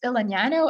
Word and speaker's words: Elegnano: of the company is el nino and it's literally a combination of the words elegance and nanotechnology smashed together and then pronounced the italian way uh both because i